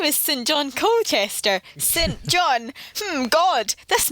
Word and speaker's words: St. John: John is pronounced St. John when it's a first name.